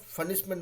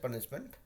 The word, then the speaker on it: punishment: तो देखिए ये लोग ऑलमोस्ट फनिशमेंट बोल देता है, तो फनिशमेंट बोलने की जरूरत नहीं है। वी can still pronounce this as पनिशमेंट। पनिशमेंट, पनिशमेंट, तो आई थिंक आपका